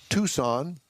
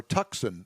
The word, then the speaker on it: Tucson: Hyundai uh redesigned 2022 Tucson or Tuxen as you would like to call it.